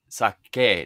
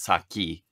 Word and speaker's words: sake: so sake as and it's pronounced sake not saki just so everybody knows